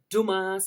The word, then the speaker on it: Dumas: being home again we've got Rally's another Convoy Dumas house now that is uh the building up